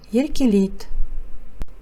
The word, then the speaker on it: еркелейді: Пишется еркелейді, читается еркелейт.